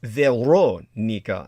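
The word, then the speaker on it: Verónica: And Veronica, by the way, the correct Latin American pronunciation, as Pac Juan Moreles would say, is Veronica.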